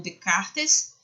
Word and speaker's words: Descartes: gente destaca o racionalismo racionalismo de Descartes ou de cartas que a pronúncia mais certa mesmo que você veja escrito descartáveis mas a pronúncia de cartas Lines Espinosa e vão